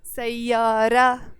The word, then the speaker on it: سيارة: So we don't pronounce the T of the word سيارة.